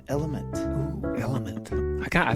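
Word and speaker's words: LMNT: chance L lemon not it's not French actually it's the letters l m n t and it's pronounced element oo element I got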